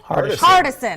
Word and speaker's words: Hardison: Of course, Keith, how do you say, Hardison? Hardison. I always want to say Henderson. I know that's not right, but Keith, thanks for joining us.